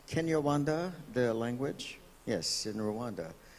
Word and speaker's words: Kinyarwanda: exchanging notes, and that is that, is it pronounced Kinyarwanda, the language?